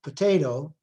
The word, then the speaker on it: potato: in Dado potato but since the stress is on the second syllable potato we really put potato and the schwa which is technically there becomes voiceless and the sound just basically disappears again an allophonic pattern not